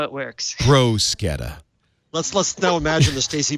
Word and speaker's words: bruschetta: Actually, Leo, and it's pronounced. This is how it works. Bruschetta.